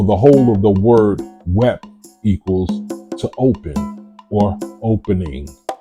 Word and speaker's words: Wep: The word for today is Wep. Wep is the word of the day, and it can be pronounced as Wep, Wop, or Op, or Ep.